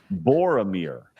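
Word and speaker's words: Boromir: most well-written character in book and film history Bor Amir he's great is that right Bor Amir did I say it right yes Bor yes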